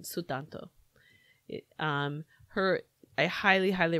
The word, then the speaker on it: Sutanto: there's a they're very clear on how they pronounce her name sutanto um her I highly highly recommend dial a